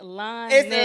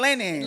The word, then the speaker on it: Lennon: It's It's Lonon. lining. I be You I be saying like Lennon. like the sheets.